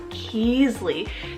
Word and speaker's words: Keasley: kind of girl neutral name here is keasley it's spelled k-e-e-s-l-e-y keasly this is a really unique and I've personally